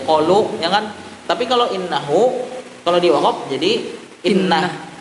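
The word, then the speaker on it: إنه: Contohnya innahu kana bi'ibadihi khabiran basira. Jadi pada kata innahu-nya tuh haknya tuh dihapus atau dibuang. Jadi bacanya innah.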